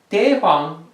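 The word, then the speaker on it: 대황: Daehwang is Da Huang in Chinese, Daehwang in Korean.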